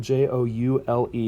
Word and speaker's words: joule: is known as a joule it's named after some scientists from the 1800s it's spelled j-o-u-l-e but it's pronounced joule like a precious gem that's easy enough to